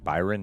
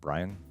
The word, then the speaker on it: Byron: After so many years of paying for somebody else's consequences, Well, it's actually Byron, not Brian.